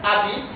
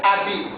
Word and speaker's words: habite: Elle habite, habite. Pas elle habite, non, pas habite, non. Elle habite, c'est-à-dire la lettre H ici ne se prononce pas.